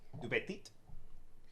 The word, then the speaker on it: Dupetit: Right Tout there. petit. Dupetit. Yeah. Du petit. Elaine Dupetit.